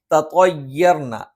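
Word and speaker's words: تَطَيَّرْنَا: തത്വയ്യർന, നാവിന്റെ അറ്റം മേലെ മുൻപല്ലിന്റെ മുരട്ടിലാണ്. നാവിന്റെ അറ്റം മേലെ മുൻപല്ലിന്റെ മുരട്ടിൽ സ്പർശിക്കുന്നതോടൊപ്പം തന്നെ ആ അറ്റത്തിന്റെ താഴ്ഭാഗം അല്പം ഒന്ന് പല്ലിലേക്ക്, മേലെ മുൻപല്ലിന്റെ പള്ളയിലേക്ക് ഒന്ന് ചേർന്നു നിൽക്കും.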